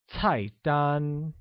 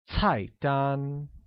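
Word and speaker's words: 菜单: look menu translates to tight done which is pronounced with a falling tone on the first a and a high level tone on the second can you say that once again it's tight done very good similarly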